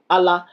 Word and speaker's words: Allah: On écrit ça juste pour insister sur la phonétique pour dire Allah. Mais pourquoi on insiste pour bien prononcer pour qu'on sache qu'il y a il y a un double L qui est caché dedans qu'il faut bien prononcer ?